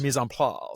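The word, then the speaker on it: mise en place: it how do you how you mis pla which is you know French so it's it's all you gota you gotta say it in a fancier accent than I did um but that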